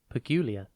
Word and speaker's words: peculiar: Today's word is peculiar. It is pronounced pe-cu-lia, and it is spelt P-E-C-U-L-I-A-R. Think peck, P-E-C, the letter U, and then liar.